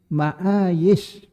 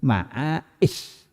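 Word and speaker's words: معايش: Wa qad qara'al jami' ma'ayis bila hamzin di ayat tadi itu. Qira'ae bila hamzin. Jadi ma'ayis bila hamzin. Memang ada satu yang membacanya hamazah. Siapa itu? Disebutkan di sana. Illa Abdurrahman ibn Hurmuz al-A'raj. Fa innahu hamazah.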